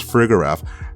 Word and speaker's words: Farigiraf: Its name is Farigiraf.